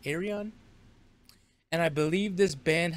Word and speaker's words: Ayreon: I'm pretty sure that's how you say it, Ayreon.